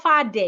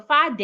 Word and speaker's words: father: So instead of saying father, it is not far. Your father is calling you. No, it is father. Remember that in the spelling of father we have th. So your tongue must be outside when you get to the th.